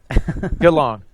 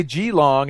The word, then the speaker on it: Geelong: Did I say it right that time? No. Yes. Geelong. Because I want to say Geelong, and he just said it short.